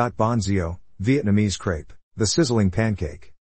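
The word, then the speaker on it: xèo: Ban Zio, Vietnamese crepe, the sizzling pancake. Ban Zio is often referred to as sizzling pancake because Zio is pronounced like the sizzling sound it makes when it is fried.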